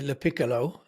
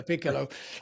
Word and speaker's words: Lopiccolo: I'm gonna try and say your surname correctly, Lopiccolo. Yes, you've got it. Perfect, yeah. Lopiccolo.